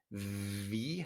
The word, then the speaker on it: wie: Ya vimos la última vez que una W se pronuncia como una B, como una V en inglés. Vi es labio dental. Wie heißt du? Wie heißt du? ¿Vale? Los hispanoparlantes tienden a decir vi, ¿vale? Pero no es bi, es wie heißt du?